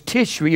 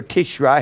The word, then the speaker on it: Tishri: and the seventh month was Tishri or Tishri however you want to pronounce it Tishri and that's the seventh